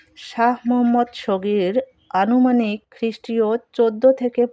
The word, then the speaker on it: মুহাম্মদ: এখানে মুহাম্মদ উচ্চারণটি কিন্তু মোহাম্মদ হবে না, মুহাম্মদ।